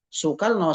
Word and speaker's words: Soekarno: Kalau misalkan bunyi kan dulu dalam ejaan kita kan untuk mengucapkan kata u itu kan o ee lambangnya bacanya su sukarno soekarno kan dulu seperti itu